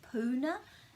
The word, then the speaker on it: puna: So it's a short u sound so it's not really puna because there's no macron. So it's puna, puna, wai, puna, and ra, rolling your r a little bit, ra, ra, ra, and ngi.